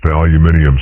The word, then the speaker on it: aluminium: Invented early in this century by a Hungarian immigrant living in Kansas and pronounced aluminium siding by the British, it was.